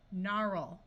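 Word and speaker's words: gnarl: nnat Nash nashing gnome a r says R narl right here this GN will just have the sound of n the a is at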